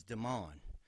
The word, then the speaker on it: Daman: hi my name is Daman spelled like demon sounds like almond and so then the first day the first day mr.